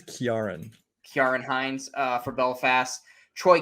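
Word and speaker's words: Ciarán: Is it Karen Hines or Ciaran Hines? I've heard it pronounced so many ways. I think it's Kiaran.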